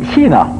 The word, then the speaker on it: Kina: do you say China in in in Norwegian Kina Kina okay and uh for this one I